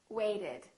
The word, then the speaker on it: waited: the Ed rule again if the last last letter is T or du we add an extra syllable wait waited attend attended if the last letter is